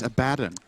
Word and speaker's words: Abaddon: Abaddon not level 6. Good. But he will You be said shortly. Abaddon again. It's Abaddon.